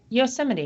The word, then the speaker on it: Yosemite: Yosemite, yeah.